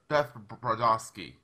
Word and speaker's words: Brodovsky: that Beth product I can see it that's pronounced key debogorski I took my kids years to be able